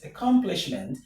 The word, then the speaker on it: accomplishment: The stress is on com. Com. So, we have a- Oh my goodness. A- com- -plish. Accomplishment.